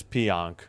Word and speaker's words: Pionk: All right, looks like it is Pionk.